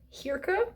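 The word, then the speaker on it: Hirka: Norwegian author and we follow Hira is how I would pronounce it h i r Ka and she's a Healer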